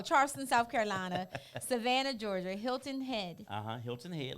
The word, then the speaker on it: Hilton Head: Carolina Savannah Georgia now I don't know if it's pronounced head or Head South Carolina is it heed h-e-a-d oh Hilton Head oh that's together South